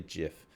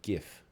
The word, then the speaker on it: GIF: format some people say jiff some people say gif okay and there's always a heated debate about it so give is a hard G right giraffe giraffe is